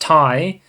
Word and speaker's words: Ti: the geforce rtx 3090 tie as they say because i always say ti but apparently it's pronounced thai announced for some reason the uh the guy over at nvidia he was saying it wrong yeah but i i